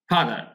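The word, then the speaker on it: further: proceed এগো এনি এনি ফাদার এনি ফাদার মানে এখানে দেখুন আর এর উচ্চারণটা হবে না এখানে আর এর উচ্চারণটা হবে না তাহলে এনি ফাদার এরকম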